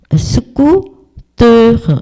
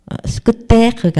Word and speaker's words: scooter: 스쿠터 이렇게 뜨 발음으로 스쿠테가 아니고 스쿠터 이렇게 발음을 하라.